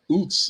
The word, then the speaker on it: Uz: It's pronounced Oots because of them.